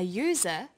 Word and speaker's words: user: but a user because user sounds like it begins with a Y.